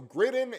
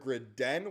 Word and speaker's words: Gridin: So, Griden is kind of the way we'll say it going forward, but we've heard Grid Den, we've heard Griden. Um, Gridden, I guess, is the most North